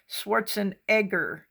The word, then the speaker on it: Schwarzenegger: Schwarzenegger. That's the way Arnold says that you should pronounce it. It's not Negger, it's Egger.